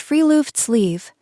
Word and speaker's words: friluftsliv: The first concept is friluftsliv, pronounced free-loofts-leave.